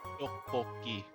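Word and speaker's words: tteokbokki: Doboki. Thank you for the pronunciation there, bub.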